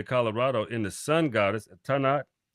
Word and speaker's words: Tanit: in the sun goddess Tanat pronounced Tanith um spouse of Bal